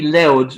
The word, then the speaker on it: Louth: Well, it's pronounced County Louth, which would be L-O-U-D, would be the way you'd say it perfectly.